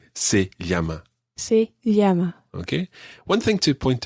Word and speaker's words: se llama: her name is you also say se llama see yama okay one thing to point out here the